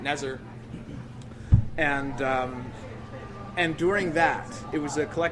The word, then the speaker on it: NZR: doing a show called, it was NZR, we pronounced it Nezer.